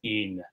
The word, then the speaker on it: even: Heaven is actually, for the most part in Shakespeare, pronounced as one syllable, as heaven. Same with even. Even is een.